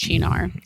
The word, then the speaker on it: Cynar: Yeah, but it's pronounced Chinar.